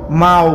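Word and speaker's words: mahu: এখানে মাহু শব্দটা যে এটা যখন আমরা বলি তখন মাও বোঝায়, মাও, কিন্তু লেখার সময় লিখতে হয় মাহু, সায়া মাহু তেঙো, আমি দেখতে চাই।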